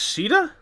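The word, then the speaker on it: Sheeda: is that is shida it's pronounced shida yeah it's Irish okay I love her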